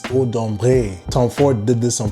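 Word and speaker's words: Ombré: So, you French speakers out there, you see that accent on the E? It's not Odombra, it's Odumbre.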